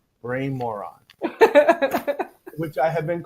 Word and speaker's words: Brian Moran: Because I asked him how to pronounce his name before, and he said Brian Moran, which I have been called.